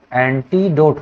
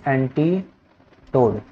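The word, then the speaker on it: antidote: होता है, ठीक है, एंटीडोट ना कि एंटी टोड, ठीक है, एंटी टोड नहीं होता है, एंटीडोट होता है, इसको याद रखना, क्योंकि काफ़ी लोग के काफ़ी लोग के प्रोनाउंसिएशन में मैं सुना हूँ, तो एंटीडोट को एंटीडोट, एंटीडोट को एंटीटोड बोलते हैं।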